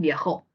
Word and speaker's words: viajó: concentramos en viajó entonces Yo me pregunto No si yo muevo la sílaba tónica de Jo no tendré otra posibilidad significativa Quién dice viajó María viajó si Yo muevo la sílaba tónica para el otro lado Ajá tengo un significado sí Qué sería viajo se dan cuenta Ah entonces yo tengo ahí la sílaba tónica en Jo pero si la muevo Podría tener viajo Ajá entonces basta una